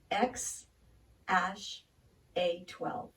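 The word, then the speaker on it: X Æ A-12: podcast with Joe Rogan Elon Musk says it's pronounced X - a 12 well this got me to thinking about a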